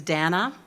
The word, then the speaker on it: Dana: My name is Dana, rhymes with banana, Darren just reminded me, and I am Frank's youngest daughter.